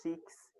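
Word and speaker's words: chasquis: Chaques, na verdade, né? Se diz chiques a pronúncia, mas escreve chaques.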